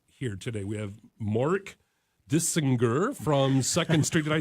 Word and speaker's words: Dissinger: We have Mark Dissinger from 2nd Street.